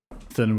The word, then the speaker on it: Thurnham: If they're good enough, then Thurnham sells them. Rhymes with sternum. Thurnham with sternum, yeah.